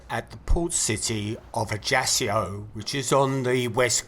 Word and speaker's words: Ajaccio: Apparently this is pronounced Ajaccio, but my chances of actually pronouncing it correctly for the rest of this recording is probably pretty slim.